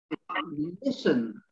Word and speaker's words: listen: hustle silent t hustle then listen silently again match now you might